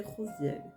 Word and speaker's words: Raziel: Donc là, l'archange qui m'accompagne pour ce message, c'est l'archange Raziel. Prononcé Rosiel, ce qui signifie secret de Dieu.